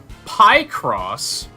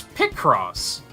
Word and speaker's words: Picross: uh in Pokemon picross pronounced pie cross and I was like it's not pie crop picture crossword it's pick cross pie cross get the